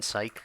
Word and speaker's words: Psych: If you haven't seen Psych, I would really recommend that. I'll type it out because it's spelled weird. It's P-S-Y-C-H, sort of like Psych.